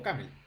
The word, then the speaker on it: OCaml: famoso que se llama OCaml o Camel, depende de cómo lo quieran pronunciar.